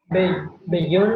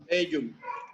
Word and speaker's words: bellum: Bellón, ¿no? Bellum. Pero en latín lo tenemos que pronunciar separado porque la doble L no existe. Entonces se pronuncia bellum. ¿Ya? La doble L se separa.